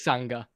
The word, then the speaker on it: Sanga: I just want to say it is Sanga.